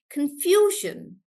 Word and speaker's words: confusion: guys for confusion again the Shan is spelled differently but it is still Shan like t o n it's the same rule of Shan and that's why we'll stress on few and we'll say confusion confusion like that T